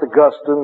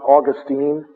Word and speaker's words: Augustine: the way it's uh it's pronounced Augustine not Augustine Saint Augustine is in